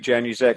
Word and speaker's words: Januszek: My name's Januszek. I think you've probably put my name. It's exactly as it's spelled.